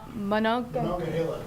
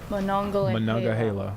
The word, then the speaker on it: Monongahela: Moments ago, did we get a pronunciation? Monongahela. Monongahela.